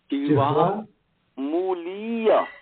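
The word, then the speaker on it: जिह्वामूलीय: जिह्वा, बोले जिह्वा, जिह्वा मूलीय, मूलीय, मु दीर्घ है, जिह्वा, जिह्वा मूलीय, मूलीय, और उपदमानीय, उपदमानीय, ये है।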